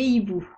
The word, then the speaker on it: hibou: Des amis, des loups, des hiboux. Notez que hibou a deux lettres muettes, le H et le X.